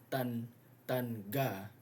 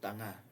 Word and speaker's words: tanga: Instead, in order to have the NG sound, you will always spell it with an NG, the velar nasal. So like tanga, which means stupid.